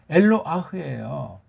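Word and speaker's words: אֱלוֹהַּ: 이걸 조금 말이 오늘 굉장히 하나님을 표시하는 이걸 갖다가 알라 그러면 간다는데 엘로아흐 발음도 제대로 하는 사람 들어본 적이 없어요. 엘로아흐예요.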